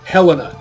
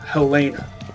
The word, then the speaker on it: Helena: that joke it's helped its Helena not Elena I don't understand why some people say Hellena that name is pronounced Helena that's over scoped doesn't